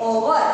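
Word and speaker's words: hour: एक्चुअली में कॉन्सोनेंट है, लेकिन यहाँ पर हमारा एच जो है वो हमारा साइलेंट है, यानी कि एच हम नहीं बोलते, हम इसको क्या बोलते हैं, ओवर, ओवर यानी कि एच हमारा साइलेंट हो गया।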